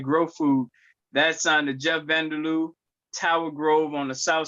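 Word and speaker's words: Jeff-Vander-Lou: That's on the Jeff Vanderloo, Tower Grove on the south side, Midtown, and West End.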